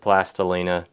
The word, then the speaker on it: Plastilina: is Roma plastilina that now you may pronounce that different but I pronounce it plastilina this stuff is an